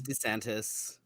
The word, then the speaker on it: DeSantis: It's DeSantis.